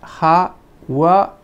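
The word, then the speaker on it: ハワイ: pero al mismo tiempo en japonés Hawái se puede decir ha-wa-i, como aparece aquí.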